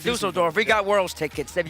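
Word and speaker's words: Düsseldorf: All right, Dusseldorf.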